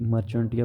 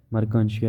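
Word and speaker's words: Marchantia: जैसे एग्जांपल में उसने मर्कांशिया का एग्जांपल दिया है, ठीक है, ये प्रोनाउंसिएशन है कि मर्कांशिया, वैसे जो है ना ये मर्चेंटिया भी पढ़ते हैं लेकिन ये मर्कांशिया है, इसलिए जहाँ पे प्रोनाउंसिएशन दी गई है।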